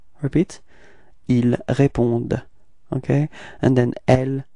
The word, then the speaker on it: répondent: But then keep in mind that for verbs we don't pronounce them, so ENT is actually not pronounced, it's only répondded, okay?